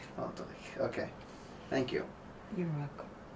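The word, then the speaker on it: Oldřich: Oldrich. Oldrich, okay. Thank you. You're welcome. That's the sh which nobody knows how to pronounce but Czechs. Okay. Now, like in Dvořák.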